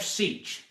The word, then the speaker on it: Seach: First, I want to thank Jeff for straightening us out because we've been mispronouncing his name ever since he joined us. But it's Jeff Seach.